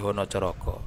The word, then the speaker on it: Hanacaraka: the Islamic Mataram era, words with the letter a were pronounced o. Hanacaraka became honocoroko. Pasa so poso In Hinduism, Upawasa is part of Brata.